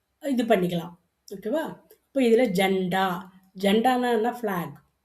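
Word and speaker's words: झंडा: நாவுக்கு ஜண்டா. ஜண்டா அப்படின்னும்பொழுது ஏன் அங்கே தொணக்கால் வரல அப்படின்னா, நாவை பாதியாக விடும்பொழுது இன்னுன்னு உச்சரிக்கணும். ஜண்டா. ஏன்னா இல்லைன்னா ஜனாடா வரும் இல்ல?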